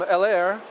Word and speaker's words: Heller: I grew up calling them Heller because I'm American. We see the H, we say so Heller. In German, we say Heller. I'm not sure how you pronounce it in French.